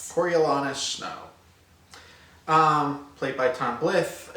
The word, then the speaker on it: Coriolanus: Okay, so we have, the main character is a young Coriolanus Snow. I pronounced that right? Coriolanus Snow.